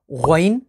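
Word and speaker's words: غين: और फिर है गौइन, और गौइन को अगर आप देखें तो गौइन, या और नून, ये 3 लेटर्स मिलकर प्रोनाउंस हुआ करता है।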